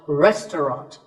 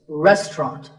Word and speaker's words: restaurant: The second syllable is just ta, and the third is ront, so restaurant. In British English, you might hear just 2 syllables, restaurant. That is also correct.